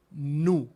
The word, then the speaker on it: nu: En la mayúscula se escribe como una N y después como una V minúscula, pero es nu, como en la N de no.